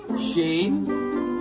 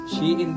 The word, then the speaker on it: Shein: Meron na kayong Shin Tama ba yung bigkas ni kuya tibs Shane Shin shein shein shein Ayun daw po shein daw po ang basa dito Buti na lang napadaan